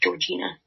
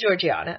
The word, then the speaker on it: Georgiana: But I think I thought the same thing as you, that it was Georgina. Exactly, right? Right. Let's pronounce it like calling it colonials and say Georgina. No, it's Georgiana.